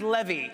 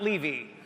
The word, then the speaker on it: Levy: if it goes well tonight my name is pronounced Levy not Levy and if things go south my name is